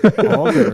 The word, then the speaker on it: auger: about my pronunciation? Auger.